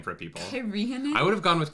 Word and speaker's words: Cairhien: It is Cairhien.